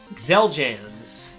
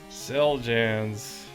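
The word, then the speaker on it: Xeljanz: know what let's do yeah okay number 11 zeljans celgens um pokemon oh gotcha again damn it zeljans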